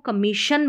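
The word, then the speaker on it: commission: समझ सकते हैं कि ये जो डबल एस है और फिर आई ओ एन है इस सभी को हम शन प्रोनाउंस कर रहे हैं कमीशन कम मशन कमीशन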